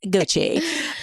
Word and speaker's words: Gucci: at this place cuz I was like gooy goie guie Gucci it's Gucci um also girl cuz this